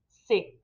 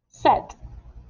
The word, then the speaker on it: c'est: It might also be pronounced set. Set. How do you know which way it'll be pronounced? If the word coming after it begins with a consonant sound, it will be pronounced c'est. C'est madame. C'est moi. If the word that comes after it begins with a vowel sound, un or une, it will be set.